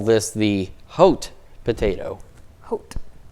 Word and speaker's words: Haute: Haute. Because that's how they say Terre Haute.